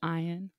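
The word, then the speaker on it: Ian: even though it's yeah it's spelled i a n but it's pronounced ion yeah so she's like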